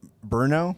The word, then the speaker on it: Brno: So we went from Prague to Pilsen to Brno. It's like BRNO. Bruno, Oh, it's pronounced Bruno.